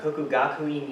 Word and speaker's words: Kokugakuin: Yes, that Apologize is if I butchered that. Kokugakuin University, There we go.